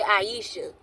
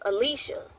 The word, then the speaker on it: Alysha: I used to say Aisha, but one of her family members said it was pronounced Alysha.